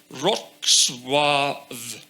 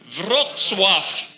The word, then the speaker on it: Wrocław: So this is the German double V, so it should be Wrocław, right? No. Because no matter how many V's you put after each other at the end of the word in Polish, you still blow through it. So it's an F sound, and now we're back to F again.